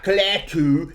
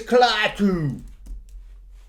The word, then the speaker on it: Klaatu: It's not Klaatu, it's Klaatu.